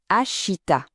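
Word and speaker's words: الشتاء: Le son, c'est facile, c'est notre chat de chocolat. Ashita.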